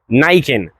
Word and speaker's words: Niken: que j'ai entendu niken, j'ai entendu niken nikun ni apparemment ça se dit niken et ça vient du coup du mot japonais qu'on peut globalement du coup découper en deux.